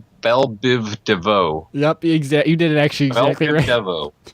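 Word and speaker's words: Biv DeVoe: I can't pronounce it I can't pronounce it pronounce that for me what does that say Biv Devo yep exact you did actually Deo Biv Devo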